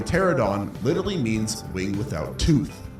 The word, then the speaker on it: Pteranodon: Pteranodon, not pterodon.